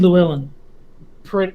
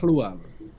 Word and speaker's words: Llewellyn: Yeah, technically the 2 L's in a row is Llewellyn rather than Llewellyn. But it's that weird sound that is almost completely absent from American English of Hlu.